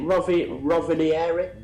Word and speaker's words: Rovaniemi: We were flying into, is it Rovaniemi? Is that how you say it? Yeah, Are we Rovaniemi.